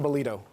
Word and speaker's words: Balido: Balido.